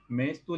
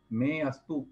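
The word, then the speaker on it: मेऽस्तु: अवग्रह का उच्चारण नहीं किया जाता है। ये जो एस जैसी आकृति है इसे अवग्रह कहते हैं और ये साइलेंट होता है। ठीक है, तो में अस्तु संधि विच्छेद करने पर, और अगर एक साथ पढ़ते हैं तो मेस्तु ऐसा ही पढ़ना, उसमें में अस्तु ऐसा उच्चारण नहीं आना चाहिए।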